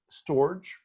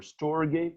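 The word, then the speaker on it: storge: know humans and then there is storage or storegate or stored depends on how you want to pronounce it which is the love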